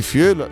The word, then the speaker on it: fiöl: Tra l'altro le dieresi sono anche in Francia, quindi fiol l'hai detto, l'hai pronunciato bene.